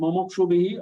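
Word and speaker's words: मुमुक्षुभिः: Now rapi and mumukshubhihi all are short sound. Here many people are mistaking it with the long sound.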